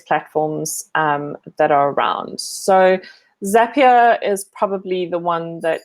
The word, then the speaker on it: Zapier: Believe it or not, it's pronounced Zapier, even though it is spelt Zapier.